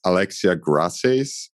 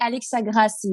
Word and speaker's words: Grassies: victoria from both society here i'm here with alexia gracias did i pronounce your name right um that's actually alex agrassi but that's not really easy that one that's